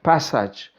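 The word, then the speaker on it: פֶּסַח: la palabra pascua viene del hebreo que se pronuncia passage vea s a qué significa saltar por encima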